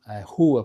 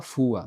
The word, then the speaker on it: rua: Eh, rua, por exemplo, rua, né? Tomem cuidado que tem muitos japonês fala fua, não é fua, tá? É ru. Ru.